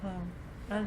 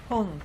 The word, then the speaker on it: Hum: Yes, it's Om, Hung. It's H-U-M, and it can be pronounced hum or hung, like H-U-N-G.